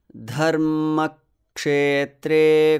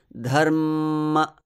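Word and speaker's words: धर्मक्षेत्रे: I sort of hanged on that M before the release. Dharma. And then cut the next syllable, ma. Dharma. And inserted a one matra pause and continued. Dharma kshetre.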